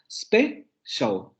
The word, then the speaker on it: special: En inglés la palabra special se tiene que silabificar como special, solamente dos sílabas.